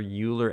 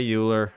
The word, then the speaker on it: Euler: Isn't it pronounced Euler? Yes, it is pronounced Euler, but I always say Euler.